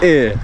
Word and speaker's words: eh: И, und, ха, э. Оно читается просто как длинное э.